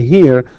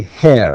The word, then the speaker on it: her: And by the way, here some people say hair, and it's not hair, it's actually her. This is the correct way of pronouncing it.